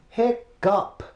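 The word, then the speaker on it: hiccough: you pronounce that word well it's pronounced hiccup pick up like up like where's the P at but it still pick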